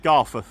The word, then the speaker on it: Garforth: See, I've learned how to say it through the day as well, not Garforth, but Garforth.